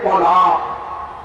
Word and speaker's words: طلاق: میں توڑے، سب سے پہلا حرف کیا ہے؟ توڑے، اس کے بعد لام، پھر الف، اور پھر اخیر میں بڑا قاف، یہ ہے طلاق۔ اس سے طلاق پڑتی ہے نا، یہ طلاق کا صحیح تلفظ ہے۔ آپ سے میں پوچھتا